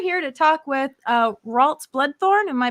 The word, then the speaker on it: Ralts Bloodthorne: we're not we're here to talk with uh waltz bloodthorn am i pronouncing that correctly yeah yeah you're excellent you're